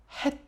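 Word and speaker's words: ח: 중동 사람들 이 이 ' 헷 ' 발음 을 하는 것 을 들어본 적 이 있어 요 . 목 에 가래가 걸린 것 처럼 " 흐흐흐 " 하는 소리 가 나 요 .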